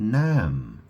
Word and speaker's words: Nam: There was a barmaid I met called Nam. Her name is spelled N-A-M. If you took the word man and you turned it around, you get the name Nam.